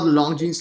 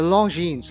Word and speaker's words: Longines: S at the end of Longine is silent, so do not pronounce it Longine. Let's talk about Longines Legend Diver Bronze.